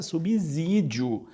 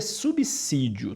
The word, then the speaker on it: subsídio: esse que é subsídio Como se você tivesse pronunciando com dois ésses e com acento agudo com ênfase no e